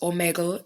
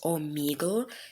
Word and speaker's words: Omegle: buddy first of all it's not pronounced Omega it's omigle just to let you know